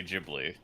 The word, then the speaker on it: Ghibli: that's why we say Ghibli you see how it has an H after the G that means it's a Ghibli nah that's where you're